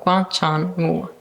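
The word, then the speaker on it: 广场舞: And first of all, how do you pronounce that in Chinese? Guang Chang. Guang Chang. Yeah, means square or plaza. Okay. Wu Wu. means dance. Dance. Okay. So Guang Chang Wu.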